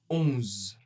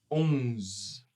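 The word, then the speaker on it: onze: Il va être on. On. La bouche bien fermée, un peu nasale. Hein. On ne va pas prononcer le E, mais on prononcera un Z un peu long. 11. 11.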